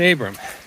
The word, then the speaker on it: Abraham: We're going to attempt the Mount Abram Trail in western Maine. It's spelled Abraham, but around here we call it Abram.